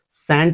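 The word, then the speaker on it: scent: इसे हम सेंट पढ़ते हैं। सेंट। ठीक है? यहां हमारा सी साइलेंट हो जाता है।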